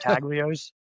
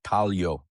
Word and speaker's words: Taglio: So do you have to argue with people and say, "Oh, it's not Taglios"? Taglios, yeah, Taglios. Yeah, there's no S. The G is silent like lasagna.